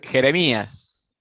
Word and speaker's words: Jeremias: I think it's Jeremias. Jeremias. Okay. Jeremias. Okay. All right. So the Yeah. J is like an H, an H sound to us.